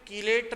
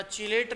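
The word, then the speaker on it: chelate: English में बोलते हैं कीलेट रिंग या चीलेट रिंग, जैसे भी प्रोनाउंस करें अपन।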